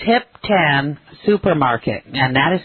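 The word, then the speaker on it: Hiep Tan: couldn't do it to properly tell you it's hip tan supermarket and that is spelled h i e p t a NH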